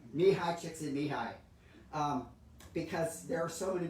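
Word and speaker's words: Mihály Csíkszentmihályi: I was so proud when I finally learned to say his name, Mihai Csikszentmihalyi, because there are so many more letters in his name than there are in the sounds. Mihai Csikszentmihalyi.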